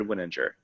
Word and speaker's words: Wininger: yeah yeah it's um i have clients that say winning in an injure and mess it up all the time it's a tough name so it's a soft g so it's a winninger is my name and